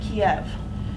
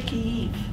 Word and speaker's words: Kyiv: It's inherently imperialistic language to call it Kiev. It's actually Kyiv.